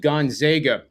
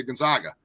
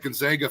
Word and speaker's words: Gonzaga: just natural with me to say Gonzaga and then I had Gonzaga fans coming up to me and saying you know you're saying it wrong and I got it